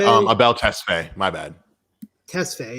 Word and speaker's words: Tesfaye: Tesfaye, yeah, because there's nothing between S and F.